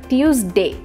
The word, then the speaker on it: Tuesday: একটু প্র্যাকটিস করে নেই the correct pronunciation is টিউজডে নট টুইজডে বা টিউজডে ইটস টিউজডে তাহলে আমরা শিখে নিলাম